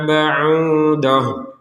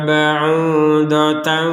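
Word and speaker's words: بَعُوضَةً: dengung matsalam Ma baudoh kalau berhenti di baudoh di sini huruf tnya terbaca sebagai huruf ha jadi ta marbutah ini namanya ta marbutah ini ketentuannya kalau kita berhenti di sini di tak marbutahnya ini maka terbaca sebagai huruf ha kalau dilanjutkan kembali menjadi terbaca sebagai huruf Ta contoh matalam baudan fama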